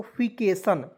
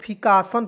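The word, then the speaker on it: -fication: बहुत लोगों को फिकासन पढ़ लेता है, नहीं फिकेशन पढ़ना है दोस्तों, फिकासन नहीं पढ़ना है।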